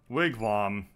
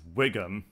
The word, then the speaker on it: wigwam: other my friend omits pronounce the word wigwam as Wiggum which immediately brings to